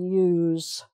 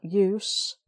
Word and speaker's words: use: because the use the use that's the clue it has the definite article if you reword it the use of um no use no use is a noun so that's the s sound okay right so then